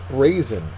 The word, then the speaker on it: brazen: reasoned next one is brazen and Brazen is an adjective the first syllable is accented it has two distinct